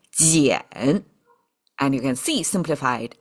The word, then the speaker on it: 俭: Useless knowledge now, but all you need to know is together, this person symbol with this qian now sounds like jiǎn.